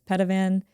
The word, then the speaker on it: Peytavin: Even though it's pronounced Pedavan, it's spelled P E Y T A V I N.